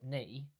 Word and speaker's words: knee: So K is silent and that leaves us with two E's. Well, we don't pronounce a double E in the word knee.